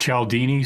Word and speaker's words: Cialdini: And I think the takeaway I got from that is Cialdini, like Cialdini? It's pronounced Cialdini, Cialdini.